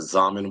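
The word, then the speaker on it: Xaman: I I do like the Zaman wallet and then Z and is spelled XA man wallet that's a good one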